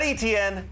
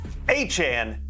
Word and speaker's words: Etienne: Not ETN, not ATN, Achan.